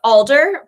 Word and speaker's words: Alder: it Alder or Alger it's Alder but really it's whichever way you pronounce it it's the tree so however you say